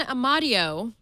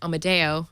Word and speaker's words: Amadeo: the camera uh Ron amadio whose last name I always mispronounce as Amadeo Amadeo Rock Me Amadeo